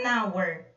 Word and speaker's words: hour: Aqui eu já tenho an hour. Reparem que a palavra hour, aqui, o H não é pronunciado.